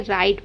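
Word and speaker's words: write: देखिए क्या होता है, जैसे कि डब्लू आर आई टी को हम क्या पढ़ते हैं, राइट पढ़ते हैं। तो कभी भी डब्लू के बाद आर आएगा तो आपको डब्लू को नहीं पढ़ना है, डब्लू एक तरीके से साइलेंट हो जाता है, ठीक है। आपको सिर्फ आर को पढ़ना होता है, क्योंकि हम यहाँ पर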